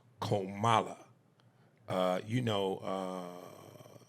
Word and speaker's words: Kamala: that out the way Camala Harris's name is pronounced komala uh you know uh like the thing a lot of the listeners forget to put in their emails oh Kamala oh Kamala when they